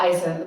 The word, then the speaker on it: Isis: Yeah, Isis, like IS.